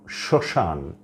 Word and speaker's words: শ্মশান: তারপরে হচ্ছে সর্তব্য, এখানেও দন্তস্বয়ের সাথে মফলা যুক্ত আছে কিন্তু ময়ের কোনো উচ্চারণ হচ্ছে না। আরেকটি শব্দ শ্মশান, এখানেও তালবস্যর সঙ্গে মফলা যুক্ত আছে কিন্তু ময়ের কোনো উচ্চারণ হয় না।